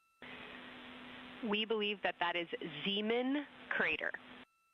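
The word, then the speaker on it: Zeman: We believe that that is Zemen Crater. Zean. Okay. And can you say the first letter? I may be pronouncing that wrong.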